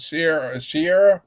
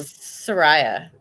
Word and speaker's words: Soraya: You're gonna have to send me a list of what Sierra. Am I pronouncing it correctly? Soraya. It's like Soraya. Mariah with an S. Or Okay, so I think psoriasis without the cis.